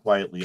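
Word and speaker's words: Quitely: Great Frank Quietly art. Really captures you. Yeah. I believe it's pronounced quietly.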